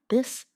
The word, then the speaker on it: this: Now practice the softer version of the where you let your tongue touch your teeth lightly but use your voice. Repeat after me. This, that, those, these.